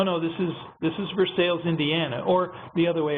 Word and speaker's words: Versailles: Cincinnati for 25 years there's a place called Versailles Indiana which i think is pronounced Versailles over in France again if you if